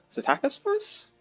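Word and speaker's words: Psittacosaurus: I think I think the p is silent. So, the Satacosaurus I'll call it a Taco Taco Tacosaurus, you know.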